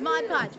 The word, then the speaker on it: Mod Podge: talking about stop making excuses i love it mod podge okay so tell me christy who our winner